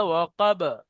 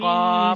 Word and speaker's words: وقب: ইদা ওয়াকাব, إذا وقب। ومن ওয়াকাব, شر কফ টান হয়ে যাচ্ছে।